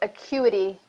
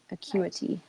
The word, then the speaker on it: acuity: how it is spelled no it's acuity so I don't believe there's an RD yeah okay just a see you ity acuity you asked me that